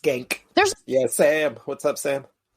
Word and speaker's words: Cenk: It's pronounced Genk.